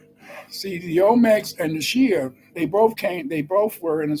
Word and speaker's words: Xi: They all called themselves Shi because, see, Shi, Xi, which is pronounced SH or Shi, what that means, in a sense, is black.